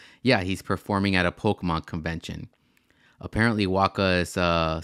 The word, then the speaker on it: Pokémon: of applause for this I like how he says Pokemon the same way like my mom says Pokemon like Pokemon like like it's called called It's pronounced Pokemon Waka you should know